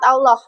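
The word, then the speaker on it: الله: Lafaz Allah hukum bacaannya apa? Tafhim. Tafhim. Kenapa kok tafhim? Karena didahului dengan harakat fathah. Oke, didahului harakat fathah. Cara bacanya te tebal. Tebal. Tafhim. Allah. Ingat. Jangan mungo mulutnya ya. Sambil meringis tetap bisa menebalkan lafaz Allah.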